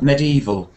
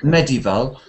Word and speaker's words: medieval: medieval medieval oh medieval medieval Med uh you said medieval you need to say medieval different stress okay medieval yeah that's